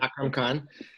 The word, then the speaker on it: Akram Khan: Is it Akram Khan.